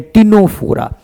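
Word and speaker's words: Ctenophora: हम लोग बोलते हैं टिनोफोरा। क्या बोलते हैं? टिनोफोरा। टीनोफोरा। सी साइलेंट है बेटा। ध्यान रखना।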